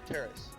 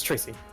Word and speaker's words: Tracy: Her name was Tacy. No, Terrace. Yes, Tracy. Who is Terrace? I just got that name wrong. It's Tracy.